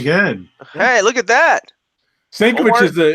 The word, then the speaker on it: Sienkiewicz: I ain't even gonna try to pronounce fucking Bill Sienkiewicz. Very good. Hey, look at that. Stankiewicz is what everybody in my store mispronounces his name, but yeah, that's how they pronounce it.